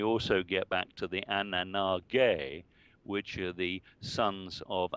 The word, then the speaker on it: Anunnaki: But O'Brien did the thorough job working from the beginning, and realized that it should be pronounced not Anunnaki, but Anunnaki.